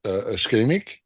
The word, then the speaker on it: ischemic: Uh, is it a I always have a trouble pronouncing it. Eskeemic.